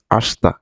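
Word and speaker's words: あした: অতাসিটা দেওয়া হয় নাই এখানে দেখেন আসতা লিখা আছে আসিতা কিন্তু আমরা উচ্চারণ করব আস্তা আস্তা মানে হচ্ছে আগামীকাল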